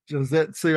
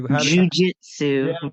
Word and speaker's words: Jujitsu: uh so what made you get into like jetsu I I can't even say it correctly Jujitsu Brazilian what you get um so I had